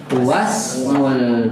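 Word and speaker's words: واسم: Sedangkan kata ismun hamzah wasol nggak boleh ya ditulis kepalanya dan tidak boleh kita baca. Langsung bagaimana bacanya? Wasmul binti Zainab. Bukan wa ismu tapi apa?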